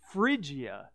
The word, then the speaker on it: Phrygia: it this week it was completely different it's Phrygia that's how you how you pronounce that it's pretty crazy right so that's